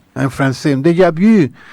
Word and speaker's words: déjà vu: Un déjà vu, como se pronuncia en francés, un déjà vu.